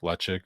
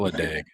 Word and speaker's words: Ledaig: Lechik isn't Where's Lechik Lecheg? or Lecheg or however you wanna pronounce it. There's a couple different ways I hear it, but it's not Ledag. That's what I know.